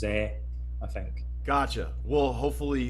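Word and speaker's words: Zé: the other day that americans all pronounce his name zee but in portuguese it's pronounced zeh i think gotcha well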